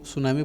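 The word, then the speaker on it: tsunami: ये सुनामी भी आप, ये टी सुनामी, इसको सुनामी पढ़ते हैं. टी साइलेंट होता है इसके अंदर.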